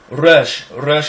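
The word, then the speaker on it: ר: Resh is also a double letter. Resh is a rolled R. Rolled R. Okay? So resh is a rolled R, as in Arabic, Spanish, Russian, all sorts of languages.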